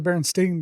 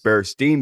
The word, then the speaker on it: Berenstain: like bar Bears well it's actually the baron steain Bears bar steain Bears how do you spell that uh b r e s t a a i n not e i n but a a i n be stain Bears yeah ah a lot